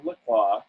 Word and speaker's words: La Croix: I love La Croix. It is and you're pronouncing it the right.